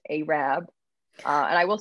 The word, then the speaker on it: Arab: arab um alabama which arab but it is pronounced arab uh and i will say i was going around town calling it arab for at least a week and everyone was